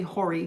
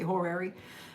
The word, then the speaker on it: horary: It's really Hori, but it's spelled horary. You're gonna hear a lot of people say horary.